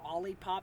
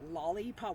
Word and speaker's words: Olipop: I still get an Olipop, not lollipop. What's funny is AI thinks I'm saying lollipop. And I'm like, I have to spell it to her. And I'm like, no, it's OLLIE pop.